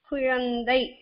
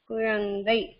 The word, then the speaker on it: குழந்தை: குழந்தை, குழந்தை. இந்த இங்க மட்டும் கொஞ்சம் அந்த இந்துன்னு வராது, கொஞ்சம் கவனிச்சல்னா தெரியும். குழந்தை, இந்த இன்னும் பாதிதான் அரை மாத்திர தான் ப்ரொனவுன்ஸ் பண்ணுவாங்க.